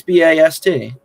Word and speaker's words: Bast: And of course, if you're spelling my last name, it's not Bass like most people would spell it. It's Bast. Very easy.